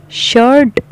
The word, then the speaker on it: shirt: शर्ट, शर्ट आर को थोड़ा silent करना है, क्यों साइलेंट करना है, एक ये यहाँ पे मैं ये भी क्लियर करती जाऊँ, आर को साइलेंटली पढ़ना है, पढ़ना ज़रूर है, शर्ट अंदर ही पढ़ जाना है, साइलेंटली पढ़ना है, स्लोली पढ़ना।